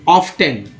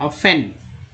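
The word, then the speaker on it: often: ऑफ्टन, ऑफ्टन, हाँ जी हाँ, क्या है ऑफ्टन है, पूछिए। ऑफ्टन ही पढ़ेंगे, एक्चुअली ये टी जो साइलेंट है, ऑफन, ऑफन helps them in the irrigating the fields with water running through.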